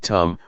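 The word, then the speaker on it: ธรรม: The dhamma, in Thai pronounced in the same way as the word tum, which means to do, refers to nature that exists by itself.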